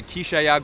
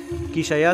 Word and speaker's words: Quixaya: Quixaya significa en el idioma cachiquel maya, Quixia, que se pronuncia Quix, corazón, ya, que es agua.